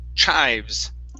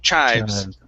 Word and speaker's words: chives: here instead of cheese this is a long i sound chives chives chives okay good uh next